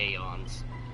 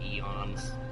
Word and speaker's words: Aeons: As far as I remember, in terms of how the gods are in the Aeons. And yes, I'm pronouncing Aeons instead of Eons.